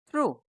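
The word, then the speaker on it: through: बस हम यहां देख रहे हैं ये कि जी एच साइलेंट है इनमें। ये बात मैंने वहां भी बताई थी। टी एच आर ओ यू जी एच इसको हम पढ़ते हैं ट्रू। क्या पढ़ते हैं? थ्रू।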